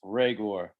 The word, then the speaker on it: Reagor: Hey, it's pronounced Reagor, just like Ty said.